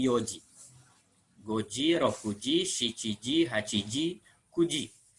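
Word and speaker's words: 四時: ichiji Nidji Sanji Yoji khusus untuk jam empat dibacanya iokj jadi jangan CD bukan CD tapi Yoji gojiro fujiseiki Ji haji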